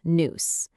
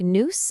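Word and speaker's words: nous: And the answer is noose. It's pronounced like noose and it's the Greek word for the absolute highest part of the human soul.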